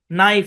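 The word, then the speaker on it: knife: খুবই সিম্পল শব্দের শুরু থেকে এন থাকলে কে সাইলেন্ট খুবই সিম্পল নাইফ মানে ছুরি কেন আছে কেটা সাইলেন্ট তারপর হচ্ছে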